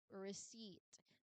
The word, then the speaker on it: receipt: So, the P is just there for historical spelling reasons, not for pronunciation. So, again, the word is pronounced as receipt.